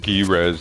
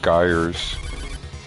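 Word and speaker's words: Gryz: Um otherwise somebody inevitably in the comments is going to go dude it's pronounced Gres not guys.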